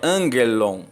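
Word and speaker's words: ἄγγελον: temos dois Gama né dois Gama quando tem um Gama geminado de acordo com a gramática grega o primeiro ele deve ser traduzido pronunciado como se fosse um n então a expressão correta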